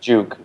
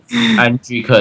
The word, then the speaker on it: Anjuke: I think it's something I like call it Juke just to make it easy. well, Anjuke is the correct way of pronouncing it.